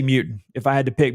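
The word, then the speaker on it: Mutin: guy that we need to know uh definitely mutant it's spelt m-u-t-i-n but donovan mutant uh client collins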